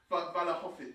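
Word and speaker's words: Vlahović: Vlasic. Vlasic? I'm saying it wrong. Vlahovic.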